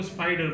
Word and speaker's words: spider: एक शब्द है SPIDER, अब आपको सिखाया गया स्पाइडर बोलना, इसलिए आप इसको स्पाइडर बोलते हो। और अगर मैं इसको सिर्फ स्पेलिंग के अकॉर्डिंग अगर इसको उच्चारण करूं तो इसका होगा SPIDER, ये ज़्यादा स्पीडर बोल दूंगा मैं, लेकिन नहीं, इसको स्पाइडर बोला जाता है, स्पिरिट।